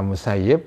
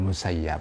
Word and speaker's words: al-Musayyib: IBN Al Muhyi itu bisa bisa dibaca al-musayyib bisa dibaca al-musayyib ya Hai kalau Penduduk Madinah zaman dulu ya membacanya Ibnul musayyib t-shirt dan musayyib ini adalah seorang tabiin yang tinggal di Madinah Ya tapi kalau orang-orang Irak itu membacanya adalah Syaikh Ibnul musayyab Hai nah kebanyakan para ulama memilih membaca Syailendra musayyib ya ini salah satu tabiin